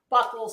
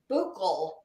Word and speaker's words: buccal: that everyone mispronounces that it is not Buckle swab this is buccal swab well that that's what